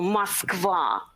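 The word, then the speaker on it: Москва: you can read it that's the way we pronounce the russian capital muskvar and if you're hungry there's some source for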